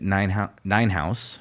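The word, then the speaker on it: Nienhuis: angry email, written by a David Ninehouse. It's spelled Neinhuis, and it's called Not by Paul Alone.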